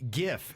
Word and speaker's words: GIF: opinion about jack said gif is pronounced with a hard g you know some people say jeff no jack says ha-ha it's got to be gif okay can we settle this